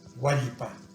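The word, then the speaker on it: huallpa: Repito la palabra yuraj, hualpa, en donde la palatal elle se debe pronunciar bien.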